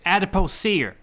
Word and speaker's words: adipocere: How are you going to make fun of this guy saying it wrong, and then you say it wrong? It's adipocere.